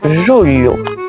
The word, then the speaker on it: julho: Alors pour le lieu de julho, si vous n'arrivez pas à le prononcer, vous prenez le bout de votre langue et vous le tapez au début de votre palais à l'intérieur et vous verrez, ça va vous faire lieu.